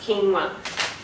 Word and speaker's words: quinoa: is an ancient grain, actually spelt quinoa but pronounced quinoa.